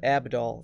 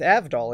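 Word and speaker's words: Avdol: dangers yet to come it's not pronounced like that it's not spelled Abdul it's avital isn't it with a V after all it's your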